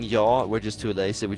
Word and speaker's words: ja: To say yes in Swedish is ja, J-A. That's how it's spelled. Ja. But we're too late. Hang on, you to say spell yaw. it. Hang on, you spell it J-A. You say it yaw.